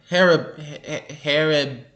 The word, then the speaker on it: Haribo: Haribo. Haribo. Haribo. That's hard for me to pronounce for some reason.